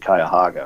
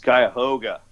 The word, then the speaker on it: Cuyahoga: And he pronounced it Cuyahoga or something like that. Oh, okay. And I'm like, hey, it's Cuyahoga. Hey.